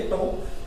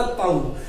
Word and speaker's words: tau: Torque का symbol, और इसे बोला जाता है टो। इसकी स्पेलिंग क्या होती है दोस्तों? इसकी स्पेलिंग होती है टो की TAU। तो वैसे तो इसको बोलने पे अगर इसको बोला जाए यहाँ पर TAU को, तो ये बन जाता ताऊ।